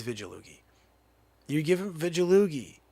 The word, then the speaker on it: Vigilugi: it francesco vigolugi vidjaloogie some people go with the with the hard g no it's vigilooki you give him veggie